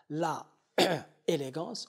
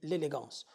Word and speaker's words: l'élégance: On ne dit pas la élégance, on dit l'élégance.